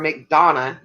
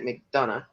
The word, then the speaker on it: McDonough: south of atlanta um near mcdonough or mcdonna as we say it but most people will try to pronounce that mcdonough thank you madison i